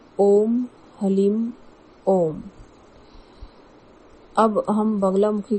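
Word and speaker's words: ह्लीं: कि हलीम है और कई लोग कहते हैं कि हरलिम है। लेकिन जो बगलामुखी के एकाक्षरी मंत्र का जो सही उच्चारण है वो हलीम है।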